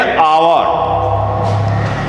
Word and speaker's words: hour: Silent H means here, yes, in written we write a H, but we don't pronunciate it. It is known as silent. So when H is silented in pronunciation in a word, before that we write an, like an hour.